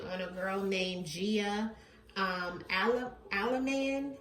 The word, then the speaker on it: Allemand: So this one today is going to be on a girl named Gia Allemand. I hope I'm saying it right. It's Allemand, okay?